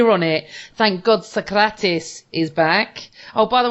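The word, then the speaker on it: Sokratis: on it thank God socratis is back oh by the way everyone had to say his name properly thank you yes yes because when if I hear Socrates one more time I I'm a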